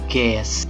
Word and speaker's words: ges: Nah, apabila ada nada yang diberi tanda mol, itu dibacanya diakhiri dengan S. D diturunkan setengah menjadi des, E menjadi S, G menjadi ges.